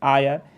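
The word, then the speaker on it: heir: तो आयर, तो she died without an आयर, क्या हो जाएगा? एन आयर। एच को देख करके, जैसे ऑनेस्ट में एच साइलेंट होता है, उसी तरह यहाँ पर एच साइलेंट है।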